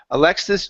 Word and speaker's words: Alexis: up we have Alexis get that s to jump out here Alexis dropped off her backpack